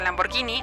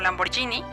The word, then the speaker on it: Lamborghini: carreras como Ferrari Lamborghini se pronuncia Lamborghini no Lamborghini y Alfa Romeo al terminar